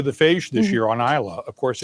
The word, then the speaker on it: Islay: outside of the whiskey world, nobody knows what Isla is. They have no idea it's a British island. My vet calls my cat Islay.